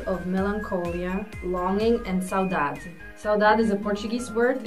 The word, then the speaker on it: saudade: How do you say it again? Saudade. Or like, yeah, Brazilian style saudade.